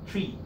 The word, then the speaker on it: trie: a data structure called tree it pronounce tree because it come from retrieve it's a fancy way